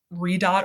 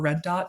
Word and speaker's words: ReDDDoT: and deployment of technology so redot or Red Dot depending on how you pronounce it uh we just did